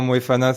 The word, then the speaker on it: Moefana: Ouais, et puis en plus, là, c'est Noël, t'as prononcé correctement Moefana, c'est champagne.